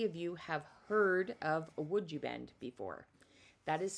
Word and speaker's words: Woodubend: Actually, you know what I would love to know from you is how many of you have heard of would you bend before? That is spelled W O D U V E N D.